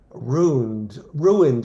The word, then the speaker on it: ruined: I didn't know ruined was two syllables.